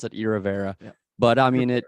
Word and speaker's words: Iravera: or irrevera it almost sounds like aloe vera you know yeah well